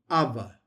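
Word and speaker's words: אבא: Abba. It's the word for dad. Abba.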